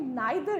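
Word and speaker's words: neither: फिर नेक्स्ट हमारे पास आता है सेकंड, जो कि है नाइदर नॉर। इसको भी बहुत से लोग प्रोनाउंस करते हैं नीदर nor, which is fine, ठीक है।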